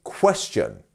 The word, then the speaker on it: question: It's our first one, right? Question, not question. Question. And our T-I-O-N becomes a chun, like a C-H-O-N, chun.